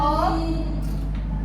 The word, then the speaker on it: ohm: Ini bacanya ohm ya.